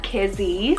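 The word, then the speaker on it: Kizzie: god's gracious meadow peppy and fun we have kizzy's about k-i-z-i-e kizzy it's a hebrew name derived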